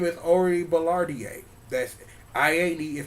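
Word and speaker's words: Orie Ballardiae: So, her name is Ori Ballardier. That's, I-A-D is pronounced A.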